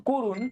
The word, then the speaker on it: করুণ: তারপরে দেখো করুণ, করুণের এখানেও কিন্তু ক এর সাথে একটা অ আছে, ঠিক আছে, কিন্তু এটা উচ্চারণ হয়েছে কো।